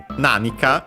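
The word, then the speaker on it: 何か: Uh so uh nanika usually you'll find still accent on the n should be on the first syllable with yeah we've seen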